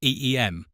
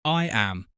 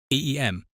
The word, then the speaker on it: Eyam: Eyam, Derbyshire, Peak District, pronounced EEM, rhyming with seam, not I am, not EAM. EEM.